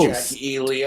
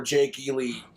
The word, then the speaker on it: Jake E. Lee: would have shot that bastard trying to shoot Jackie E. Lee. I'm like, Bro. or Jake E. Lee.